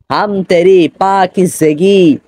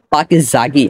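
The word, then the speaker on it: پاکیزگی: দেখুন লেখা রয়েছে আল্লাহ পাকি জেগি পাকি জেগি কাকরার করতে হে অনেকে রয়েছেন যারা বলেন পাকি জাগি আসলে পাকি জাগি না উচ্চারণ হবে পাকি জেগি মানে জে এর নিচে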